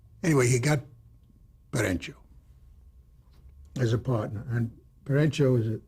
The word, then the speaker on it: Perenchio: He got a partner named Jerry Perenchio, who introduced himself to me as Perenchio. And you know what I said to the guy? Why are you mispronouncing your name? And Norman says to me, is that all you can say to him? And Perenchio laughed. Perenchio says, well, he's right. It is Perenchio. CH in Italian is never ch, as it is in Spanish.